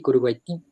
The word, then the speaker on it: Curuguaty: ti que en relleno se pronuncia así curuguaty a mí no me sale ese ese es el tono del guaraní y digamos managing sí